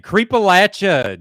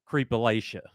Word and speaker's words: Creepalachia: How do I pronounce the channel name? Creepalachia. Do not say Creepalachia.